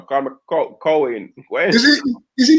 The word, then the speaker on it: Colin: being black where he even change up the pronunciation of his name don't don't call me colleen you know cohen is he is he